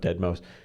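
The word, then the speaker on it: deadmau5: It's spelled d e a d m- a u and then the number five but he calls himself dead mouse dude.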